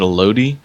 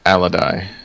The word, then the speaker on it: Alodi: Al Loi right yeah although I had always pronounced it a Loi but yeah alady is how that's how they pronounced it okay good and for anyone wondering alodi was a half Elven Mage and was the